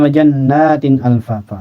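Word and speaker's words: وَجَنَّاتٍ أَلْفَافًا: Wajannatin alfafa. Nah, ini kasratain berhadapan dengan alif atau dengan hamzah.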